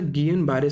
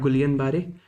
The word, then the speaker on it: Guillain-Barré: There were 2 news articles here on the Guillain-Barré syndrome, and yes, that's how it's pronounced. It's not Guillain-Barré, okay, it's Guillain-Barré. Guillain-Barré is not the best pronunciation also, it's a French word, but आप at least बोलो इसे properly.